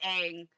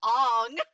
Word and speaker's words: Aang: with aang you know i almost literally my brain was telling me to say it wrong to piss people off i was literally i was literally back like let's talk about ong my brain was like